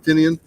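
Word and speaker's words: Tynion: of the park and James tinian or tinan nobody pronounces it right except for him tinian there we go he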